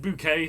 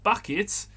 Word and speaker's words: Bucket: says are you mrs bucket it's not bucket darling it's bouquet bouquet dear i mean sure you can twist the spelling her name was bucket she pronounced it bouquet it's the leicester situation